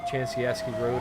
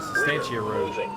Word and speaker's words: Sustancia Road: We're going to be taking the exit here at 403 on the Chansiaski Road, I believe is how you say it. Correction, Sustancia Road.